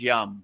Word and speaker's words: yam: So the yam which is the heart chakra you know the the proper pronunciation is yum yum m right like yum.